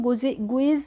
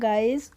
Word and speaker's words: guys: अब है हमारा गाइस, GUYS, तो इसको हम गुइज नहीं पढ़ते हैं, इसको पढ़ते हैं गाइस, और गाइस का मतलब होता है लड़का और लड़की दोनों ही होते हैं।